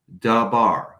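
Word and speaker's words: דָּבָר: in hebrew is pronounced da bar with two a vowels da and bar but the construct form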